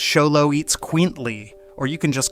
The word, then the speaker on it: Xoloitzcuintli: It's pronounced Xoloitzcuintli, or you can just call it a Xolo like a normal person.